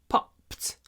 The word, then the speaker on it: popped: The balloon popped. Remember to say pop, pause, pt, popped. Lots of aspiration.